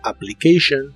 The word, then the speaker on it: application: dobles de inglés como la doble p en la palabra application Normalmente se pronuncian como si fuera solo una letra entonces en una solicitud